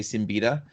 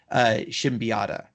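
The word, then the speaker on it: Siembieda: to say his name we probably just say seen betta but um one time I got a chance to meet him and I was instructed that it's pronounced Shem piata and so Kevin should be oughtta of palladium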